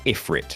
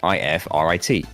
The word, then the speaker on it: Ifrit: So saying it phonetically, it looks like it says Ifrit. I-F-R-I-T.